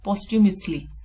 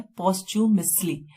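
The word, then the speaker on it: posthumously: Next हमारा है पोस्ट्यूमसली। इसकी प्रोनाउंसिएशन है पोस्ट्यूमसली, यानी कि मृत्यु उपरांत, अवॉर्डेड, पब्लिश्ड आफ्टर डेथ।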